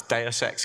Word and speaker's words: DSX: which I've realized now most people can't don't know how to pronounce that Anna it's deex Capital uh so we uh